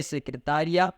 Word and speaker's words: secretária: diferente e mais rápido, porque o acento tônico fez diferença nas duas. Vamos dizer que outra coisa é secretária, outra coisa é secretaria.